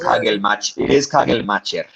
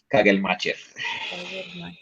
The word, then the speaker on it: Kagelmacher: So I heard him pronounce his own name, and it is Kagelmacher. Kagelmacher.